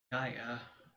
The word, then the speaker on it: Gaia: Gaia, pronounced Gaia, the earth goddess of the early Greeks.